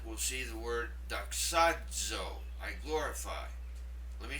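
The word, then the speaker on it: δοξάζω: Now, in chapter 1, we'll see the word doxazo, I glorify. Let me say it again, doxazo. It makes the dz sound in the middle of that word, z.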